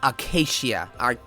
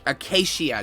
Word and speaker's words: Acacia: It's Acacia. Acacia Dragoon. So almost like Arcadia.